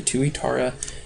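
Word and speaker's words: tuatara: a reptile is a tuara so that's how you pronounce that word as a tuara and these ones are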